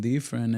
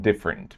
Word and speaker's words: different: pronounces the I in different. Trying to do something different, and Spanish doesn't have the I sound, which is present in English, so Spanish speakers will usually substitute it with E.